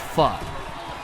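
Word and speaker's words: phở: places there's this dish it's spelled pH it's pronounced Fu and it's a it's a type of soup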